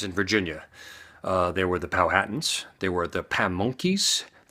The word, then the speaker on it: Powhatan: Indians by the way it is pronounced almost like Manhattan but it's pal Hatton spelled p 0 wh